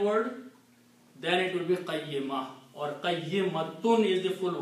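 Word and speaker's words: قيمة: When you stop, you say qayyimah. Okay? They don't pronounce the ta marbuta with the two noons, to sukoon there. I mean to tanween, to dhammas. So it will be qayyimah. Okay? But when you read it full, you have to pronounce qayyimatun.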